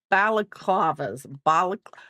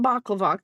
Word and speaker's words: balaclava: I am making mommy daughter balaclavas. I know I'm gonna say it wrong, so we're just gonna get over it. We're not gonna call it baklava because I know it's not baklava.